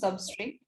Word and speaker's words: SUBSTR: the use of sebastia basically service TR we commonly pronounce substrate so uh and the